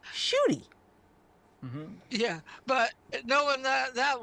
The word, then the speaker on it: Ncuti: NCUTI, but it's pronounced Shooty. Mm-hmm. Yeah, but knowing that woman, she would have pronounced it In cootie.